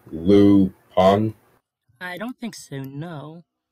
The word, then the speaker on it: Lupin: And Super Mario Studio says, have you ever watched the Netflix original series Lupin, pronounced Lu Pan?